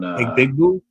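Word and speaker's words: Egbuka: He did say he is the one who said Emeka Egbigbue on Egbigbue? Yeah, that's how he pronounced his name when he was a rookie on draft night.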